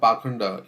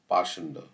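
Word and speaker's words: pāṣaṇḍa: He has come, he's dressed as a sadhu, but the word Pakhanda used in this verse is sometimes pronounced Pashanda.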